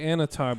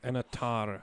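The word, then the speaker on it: Annatar: because we say Anatar, but theirs is like Anatar or something. Oh, they roll the R.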